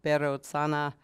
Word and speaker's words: Vairotsana: Um and the person mentioned as the charioteer is the translator Vairotsana, in Tibetan called Berotsana. Um which some people like to keep uh that pronunciation of it.